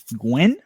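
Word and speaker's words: Nguyen: Lee, let me see, how do you pronounce this? Win. Lee Gwen? Just like that? Gwen? Lee Win, yeah.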